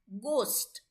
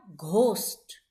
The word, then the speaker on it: ghost: Right pronunciation for this word is ghost, not ghost.